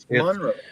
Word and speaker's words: Monroe: shocks no it's Mon Monroe it's Monroe like the shocks it's Monroe yeah Monroe